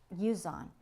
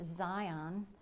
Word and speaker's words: Zhiyun: I believe it's called, I think you pronounce it ZHIYUN, and it's called a Smooth Q.